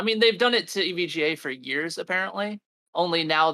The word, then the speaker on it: EVGA: say that name again every EVGA it's just EVGA EVGA hopefully they'll find somebody better to treat